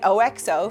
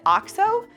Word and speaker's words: OXO: One funny thing though, I have been calling it OXO for years now. And when I went to make this video, I looked up how the brand pronounces it and they said OXO.